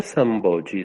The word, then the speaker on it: Samboji: El sitio se pronuncia Samboji.